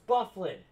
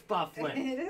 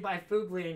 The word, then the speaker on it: Byfuglien: No, it's Bufflin. I know it's Bufflin. And I always go to Save by Fugleian because that's how it's spelled.